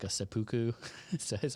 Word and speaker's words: seppuku: I call them like a seppuku. Is that how you pronounce that? What? Seppuku.